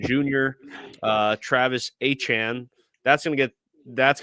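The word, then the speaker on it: Etienne: So, we'll call him the artist formerly known as Travis ETN Jr. uh Travis Achan. That's going to get that's going to take some time getting used to. You hear Achan, you think Miami Dolphins and and their stellar running back down there.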